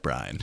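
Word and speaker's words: Bryne: I mean, I did say Bryn all this time. There is an E at the end. There is. It's definitely spelled like Bryn, but... Are we going with Bryn? I think Bryn's right.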